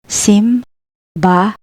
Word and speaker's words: simbahan: The letter H is in the end. Simbahan. Simbahan, meaning church.